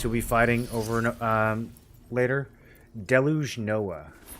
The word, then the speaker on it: DELU: Deluge Noah. But the most well-known pronunciation is DELU. The most widely accepted pronunciation would be DELU. Or DELU Noah.